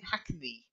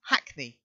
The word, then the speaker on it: Hackney: helps okay so shiny your pronunciation is okay on Hackney but you're saying I can be and it's not it's just Hackney try it Oh much